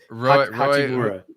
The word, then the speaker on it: Hachimura: It's Hachimura.